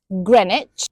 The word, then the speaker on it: Greenwich: Then we have the ones with silent w Dalich Woolitch Greenwich Chisik Warick Avenue and Sabuk.